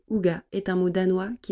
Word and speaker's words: hygge: Le terme Hitch, prononcé Uga, est un mot danois